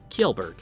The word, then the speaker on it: Kellberg: are you gonna play it for me okay kielberg there we go so there's a little a